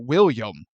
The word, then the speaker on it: Willem Dafoe: Everyone says Willem Dafoe, except William Dafoe. And It's Willem. apparently he's too nice. No, it's spelled Willem. He pronounces it William, like a normal person.